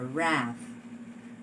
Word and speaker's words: wrath: this is a wrath do you hear the sound of the w in the initial position no okay this is what we call a silent letter in other words since this has no sound the w has no sound in this particular word then when you transcribe